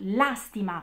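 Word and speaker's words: lástima: Pena è un sinonimo di lastima. Vedete qua intanto anche un po' di accenti, eh? La stima è il verbo, ma lastima è il sostantivo. Palabra esdrújula, lleva tilde.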